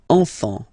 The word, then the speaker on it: enfant: You don't pronounce the S.